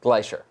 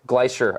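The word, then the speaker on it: Gleicher: Glacier. Glacier.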